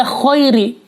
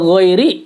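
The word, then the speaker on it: غَيْرِ: masih tidak merubah arti yang berat ketika membaca Khairi nah ini ada ditemui ada seorang imam membaca ghairil Khoiri itu jadi merubah arti sehingga akibatnya bisa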